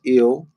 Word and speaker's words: El: So El, the ancient pronunciation is Il, was the supreme deity of the Hebrews and a male.